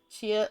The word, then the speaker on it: Chilla: Chia like a chinchilla.